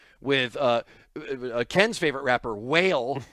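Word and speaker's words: Wale: uh Ken's favorite rapper, Whale, W A L E, otherwise pronounced Wall.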